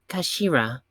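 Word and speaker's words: 頭: hilt just a gun it's written as head in Japanese but it's pronounced as Kashira I mean I believe Kashira so Mr isogi's last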